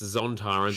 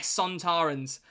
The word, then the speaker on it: Sontarans: Oh, you pronounced it wrong. It's Zontarans. Shut up. Where's it going? S? S, mate. War of the Sontarans.